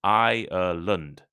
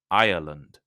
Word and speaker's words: Ireland: slightly different the country the name is Ireland has three syllables Ireland Ireland while Ireland the geography like in uh the Britain is an island Australia is an island only has two syllables Island so listen carefully